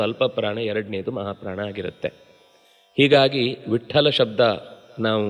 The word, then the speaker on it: ವಿಟ್ಠಲ: ಬೊಟ್ಟಿಡುವುದು ಬಹಳ ಇಷ್ಟ ಕೆಲವರಿಗೆ ಆದರೆ ಇಲ್ಲಿ ಶಾಸ್ತ್ರೀಯವಾಗಿ ಆ ಹೆಸರಿರುವುದು ಅಲ್ಪಪ್ರಾಣ ಟಕಾರಕ್ಕೆ ಮಹಾಪ್ರಾಣ ಠಕಾರದ ಉಚ್ಚಾರಣೆ ಅನ್ನೋದು ಅತ್ಯಂತ ಸರಿ ಮತ್ತು ಸ್ಪಷ್ಟ ಯಾರೇ ಆದರೂ ಉಚ್ಚಾರಣೆ ಮಾಡುವುದನ್ನು ಸರಿಯಾಗಿ ಗಮನಿಸಿದರೆ ವಿಠ್ಠಲ ಅಂತ ಹೇಳುವಾಗ ಮೊದಲ ಅಕ್ಷರ ಅದು ಮಹಾಪ್ರಾಣ ಆಗಿರುವುದೇ ಇಲ್ಲ ಇದು ಅಂತಲ್ಲ ಉದ್ಧವ ನೀವು